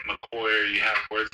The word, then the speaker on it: Makoyii: And so that's why, like, sometimes you'll see, like, Makoyii has two eyes at the end, and that's just to kind of, like, phonetically go, oh, that's, like, the E sound in police. Like, okay. So, like, it's rather than just being, like, a sharp E, it's like an E, like, Makoyii.